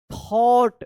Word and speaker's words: thought: The night थॉट, देखिए यहाँ पे THOUGHT, तो देखिए यहाँ पे GH जो है ना यहाँ पे साइलेंट है, थॉट पढ़ेंगे, थॉट मत पढ़िएगा, थॉट पढ़ेंगे।